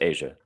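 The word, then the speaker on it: A'ja: It is pronounced Asia. Suk just likes to say Aza because he's he's like that. But it is pronounced Asia like the country.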